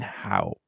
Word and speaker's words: Haupt: But that is silent, that P, on Instagram. So it's a Ryan Haupt. It's not silent. It's not quite silent, yeah. No, it's something's going on there because it's missing a vowel. But it's a 1-syllable last name that people still struggle with, and it's been my whole life.